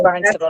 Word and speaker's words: Barnstable: about the fact that this was filed in Barnstable. Is that how you say it, Carrie? I don't know. Yeah, you got it. Barnstable.